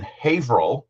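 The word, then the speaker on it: Haverhill: When I when I was living in Massachusetts, I dated somebody who lived in Haveril, which is not spelled the way it's or it's not pronounced the way it's spelled.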